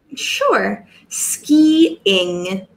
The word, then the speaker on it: skiing: pronunciation speed in because if you don't pronounce it properly it sounds like skin and this is skin